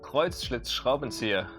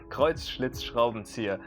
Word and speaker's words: Kreuzschlitzschraubenzieher: Now that's also hard to pronounce because we have again a lot of sh sounds and now even combined with a lot of s sounds. Kreuzschlitzschraubenzieher. Kreuzschlitzschraubenzieher.